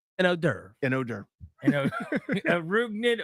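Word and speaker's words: hors d'oeuvre: handing you odor yep what is it rud odor spell it out h o r s yeah d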